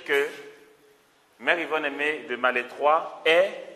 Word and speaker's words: Malétroit: Mère Yvonne Aimée de Malétroit. Vous voulez que j'écrive? Mère, vous savez, ça, Mère Yvonne, ça va. Aimée de ça s'écrit Malestroit, mais on dit Malétroit.